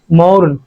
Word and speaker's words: mourn: তারপরে ফোকাস করো, সো উই, সুতরাং আমরা, শুড নট, আমাদের উচিত না, MOURN, মৌন, না, মৌন, ফোকাস দ্যাট। একটা বেসিক রুল হচ্ছে ইংলিশ উচ্চারণের, আর কে উচ্চারণ করব না যদি আমরা দেখি আর